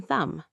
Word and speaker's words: thumb: Or the B in thumb.